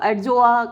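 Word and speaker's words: Adjoa: यू अजोआ, हम डी को भी चलिए प्रोनाउंस करते हैं तो एडजोआ करके इसको प्रोनाउंस कर लेते हैं।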